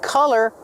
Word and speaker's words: color: Don't be confused with color. Color has the short sound like cup and up.